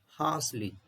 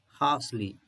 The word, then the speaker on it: harshly: अब यहाँ पर इस वर्ड का प्रोनाउंसिएशन देखिए, हार्शली। तो अब आर के पहले जो आपका वाउल साउंड है वो आर को थोड़ा अनस्ट्रेस करेंगे, हार्शली। तो हार्शली यूज होगा, हार्शली।